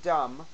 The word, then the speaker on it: dumb: There's no B in dumb.